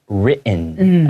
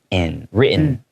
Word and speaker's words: written: When there's hard T sounds in the middle of a word, a lot of times native English speakers will kind of swallow that T sound. We go written, okay?